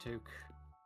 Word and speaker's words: toque: I mean, it's pronounced toque. Toque.